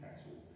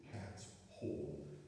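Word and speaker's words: Cathall: Road Estate, which had I've mispronounced it because I used to call it Cattle, it's Cat Hall, and, you know, the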